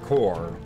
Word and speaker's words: corps: an e to it I think it's mostly said core silent P yeah it's always confusing